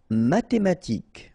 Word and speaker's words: mathématique: Mathématique, remember, H doesn't exist, so mathématique. Remember, Q-U-E at the end, K. Mathématique.